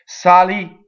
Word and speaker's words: salì: So here we have an ultimate accent, right? It's a little rarer. There are a lot of words that end on the last syllable, right? But the ones that end on the penultimate syllable are the most common in Italian. Okay, but here's one, salì. Going on, well, we said